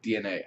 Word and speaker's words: DeNA: be partnering up with Dena or DNA I think is actually how it's said um and it's also